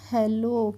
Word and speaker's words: hello: और इसमें जो 2 L रहते हैं, इसमें जो सेकंड वाला एक L है उसको हम साइलेंट करते हैं, इसलिए हम इसको हेलो पढ़ते हैं।